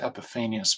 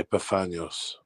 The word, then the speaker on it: Epiphanius: I pronounce it Epiphanius, but I've heard it Epiphanius. I say Epiphanios. Epiphanios, okay. Yeah, I've heard it different.